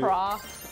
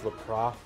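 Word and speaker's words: Lapras: But yeah, the Pokemon that carries you around is Lapra. Say that in the French style with a silent.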